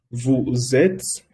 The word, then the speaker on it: vous êtes: Vous êtes, lo pronuncia vous êtes porque aquí hay una S y aquí empieza con una A.